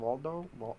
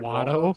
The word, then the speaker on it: Watto: But how do you say his name? Waldo? He's like Watto.